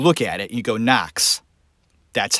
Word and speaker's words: Knox: America vet last name the K it's like it's not there it really should be n OC KS when you look at it you go knocks that's how it's pronounced not connects the crime footage that